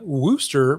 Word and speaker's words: Worcester: noob what's up man how are you uh wooster pronounced easter my little bronies now they definitely do